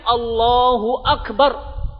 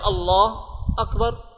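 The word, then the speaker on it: الله أكبر: Tapi kalau disambung bacanya Allahu Akbar. Enggak boleh baca Allah Akbar.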